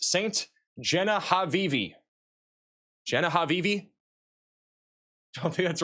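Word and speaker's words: Ste. Genevieve: Max, it's pronounced Saint Genevieve.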